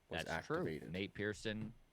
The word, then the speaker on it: Nate Pearson: the alternate site recently his name rhymes with pate niersen nate pearson has been activated he's